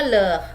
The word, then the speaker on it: leurs: Leurs itu tambah S, tapi dibacanya leh ya, tetap S-nya tidak dibaca ya.